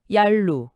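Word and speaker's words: 鴨綠: 네, 아주 흥미롭게도 그중 아로하라는 강이 있는데 발음이 얄루입니다. 놀랍도록 비슷하죠. 아, 정말 그렇네요. 아로하, 얄루. 아로하라는 강의 이름 자체가 얄루, 즉 경계의 강이라는 의미를 가진 압록의 흔적일 수 있다는 겁니다.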